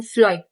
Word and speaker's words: phloem: अब आपने क्या करना है कि फ्लोएम जब मैं इसको प्रोनाउंस करती हूं फ्लोएम। तो फ्लोएम में मेरे पास क्या आता है? एफ की साउंड आती है प्रोनाउंसिएशन में।